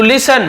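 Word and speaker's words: listen: टू लिसन सुनने के लिए, यहाँ पे टी साइलेंट होता है, लिस्टन नहीं बोलेंगे, लिसन मत बोलेंगे, लेकिन लिखते समय लिखते हैं टू लिसन सुनने के लिए।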